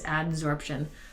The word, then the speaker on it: adsorption: Now, adsorption is different from absorption. I'm not saying it wrong. It really is adsorption. A sponge absorbs things. Absorb with a B means that it takes it into itself.